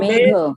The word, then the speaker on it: मेघ: Megh. Huh? Cloud. नहीं, pronounce it first. अच्छा, मेघ. Megha. One by one. Megha. Megha. Megh. Megh. Megh. It's not man. Yes, gha. It's gha. Mahaprana है ये.